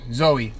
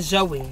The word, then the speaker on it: Zoe: your business oh bro zoey my name is not joey it's zoe what is how you